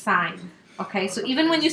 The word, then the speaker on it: sine: kind of dumb because sine is really only 4 letters. Okay? So they abbreviate it S-I-N. It's not pronounced sin. It is pronounced sine.